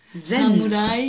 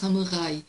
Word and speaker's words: samouraï: Samouraï, les Français prononcent samouraï, mais en fait c'est samouraï parce que nous n'avons pas de R.